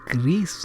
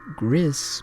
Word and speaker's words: Chris: It's Chris. That's how it's pronounced. Chris, not Gris, but Chris. You have to say it with the accent.